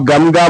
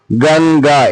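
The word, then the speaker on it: గంగ: गंगा, आप गमगा बोल के पढ़ सकते हैं, लेकिन गमगा प्रोनाउंसिएशन करने में मुश्किल होती है, उस वास्ते आपको गंगा एन की आवाज में प्रोनाउंस कर लिया तो इजी आसानी के साथ प्रोनाउंस कर ले सकते हैं। गंगा बोल के इस तरीके से प्रोनाउंस करें।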